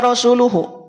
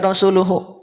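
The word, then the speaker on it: رسول: domahnya kebalik domah angka en asalnya rasulu tetapi karena wakaf maka hak Dir menjadi sukun Ah gitu jadih dibaca Rasul Bukan dibaca rasulu nanti Bunda nanti ya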